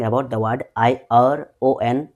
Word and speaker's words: ion: I am saying about the word I O N. It's not actually iron. The correct pronunciation is ion.